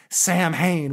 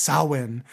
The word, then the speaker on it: Samhain: the Celtic people celebrate Sam Hayne which from what I understand is pronounced sawin and and on that